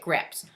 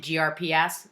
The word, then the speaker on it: GRPs: we say grips grps pretend there's an i in there and we pronounce it grips what really gets to me is when people pronounce it grps that's my little pet